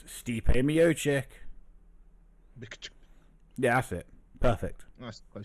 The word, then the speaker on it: Miocic: Miocic. Like a Mio, but then a chick at the end. Yo, it's Stipe Miocic.